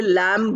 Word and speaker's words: lamb: b we don't say lamb B is not pronounced it is silent so we say lamb